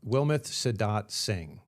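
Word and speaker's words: Wilmeth Sidat-Singh: More, where you feature, and I apologize if I get the name wrong here, Wilmouth, Wilmouth Sedat Singh. You've got it right.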